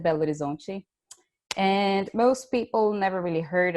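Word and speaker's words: Belo Horizonte: this city called bello the gringo way of saying it i guess would be bello horizonte we pronounced that belgian most people never really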